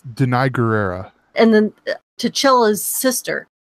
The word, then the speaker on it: Danai Gurira: call her Michonne but I do it it's Danai gurira and then two Chile's sister Leticia ray she